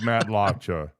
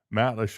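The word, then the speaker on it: Matlacha: Well, it looks like Matt Latcha. It does. Matt Lach does a beautiful place. I don't know in English rules of pronunciation. How you get Matt Lache out of that spelling is beyond me.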